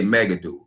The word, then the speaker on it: Megiddo: little type in project Megiddo you know which is what you get or you could say mega do no matter how you pronounce it but it's in the